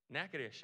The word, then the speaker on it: Natchitoches: Natchitoches. All right, cool. I would have butchered that really bad.